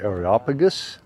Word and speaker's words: Areopagus: Welcome to the top of Mars Hill, also known as the Areopagus, at least the English pronunciation.